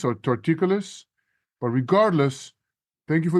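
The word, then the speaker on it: torticollis: and the guy there told me I had tortoise collar and I should wear a neck brace what the heck is tauris Coler and how long will I need the brace Joey it's actually pronounced torticolis or torticolis but regardless thank you for the question and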